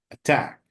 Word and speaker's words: attack: Actually, here we have two letters, okay? But we have only one sound. So it's attack, okay?